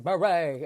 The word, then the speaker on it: Bure: I'm like, Natasha Bure, what? And she was like, because everyone, she said, always gets the beret messed up. They say Bure.